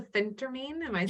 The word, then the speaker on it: phentermine: medication what was that yes as that's the phentermine you did start it yeah i said it